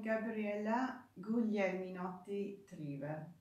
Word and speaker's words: Gabriella Guglieminotti Trivel: But anyway, I am Gabriella Guglieminotti Trivel.